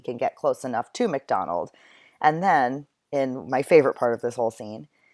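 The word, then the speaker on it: Macdonwald: I know it looks like MacDonald, but it's pronounced MacDonald.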